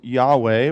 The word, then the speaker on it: Yahweh: but his name was Yahweh we pronounce in the English but actually it's an unpronounceable name in Hebrew because it's the sound you make when you breathe its you'd which is